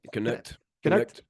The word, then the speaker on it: Knecht: I know I'm going a little guard heavy right now, but dude, Dalton Knecht. Did I say it right? Knecht? Yep. Knecht.